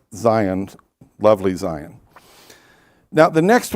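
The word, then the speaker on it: zayin: one is Zion and it's spelled z a i n or z a yeen and it's a z like in zebra and sounds like Zion lovely Zion now the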